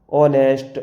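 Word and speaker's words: honest: ये लिखा है ऑनर, क्योंकि अगर आपको ओ से पहले एच आया साइलेंट। ऑनेस्ट, आवर, इको।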